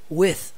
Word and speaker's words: with: Preste atenção no som do with, somzinho do TH lá.